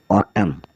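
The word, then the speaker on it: autumn: है भजन ए यू टी यू एम एन ऑटम ऑटम होता है पतझड़ फिर हम चलते हैं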